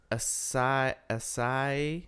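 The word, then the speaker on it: Esai: His name is Acai Morales. It's pronounced acai.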